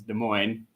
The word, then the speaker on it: Des Moines: right in the center is our capital of Des Moines whatever you want to call it uh the proper pronunciation is Des Moines even though it looks like Des Moines um